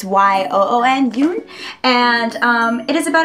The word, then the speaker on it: Yoon: I think that's how you pronounce her name. It's Y-O-O-N, Yoon.